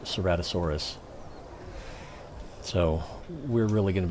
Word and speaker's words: Ceratosaurus: here my seven-year-old had to tell me this pronounced ceratosaurus so we're really going to be missing him